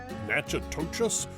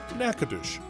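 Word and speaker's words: Natchitoches: trip to nacadish Louisiana just pronouncing the name of this place is a challenge it looks like I don't know nacha toas a pronunciation that often gets it confused with nacadas Texas but locals pronounce the name of their town nacadish and that's just the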